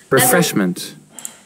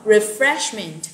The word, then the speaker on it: refreshment: Đúng rồi, Yến Nhi rồi nè, thuộc hết từ refreshment. Đúng rồi, refreshment. Từ này nhấn ở trọng âm 2 nha mọi người nha.